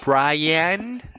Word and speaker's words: Bryan: Pronounced Bryan.